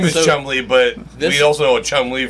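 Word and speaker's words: Cholmondeley: Well, so so his real name is Chumley, but we also know Chumley from Bonar. This is how it's spelled. And that Chumley is how he pronounces it.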